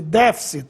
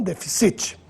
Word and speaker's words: déficit: sem assento só que a leitura é déficit e não deficit já a forma subjudice